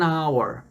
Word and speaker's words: hour: An hour. Lembra que eu falei da letra H? Nesse caso aqui, a letra H não tem som.